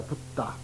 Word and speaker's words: 붓다: 붓다.